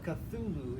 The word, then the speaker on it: Cthulhu: of cthulhu cthulhu yes it's an alien name that we really can't pronounce in the english tongue so cthulhu is the closest we can come to pronouncing it no no human mouth can ever form those those invisible syllables it opens with a